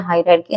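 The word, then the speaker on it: hierarchy: इसका सही प्रोनाउंसिएशन है हायरार्की।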